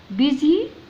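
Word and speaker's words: busy: دي بنقراها البي حركتها ب وندخل على الاس هنا كانها ز، ودي الواي تنطق ياء تبقى بيزي بيزي.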